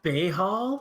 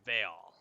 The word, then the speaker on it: Baal: Wait, Lord pronounced Bayhall? Yeah, it's Baal. Hey, Hall.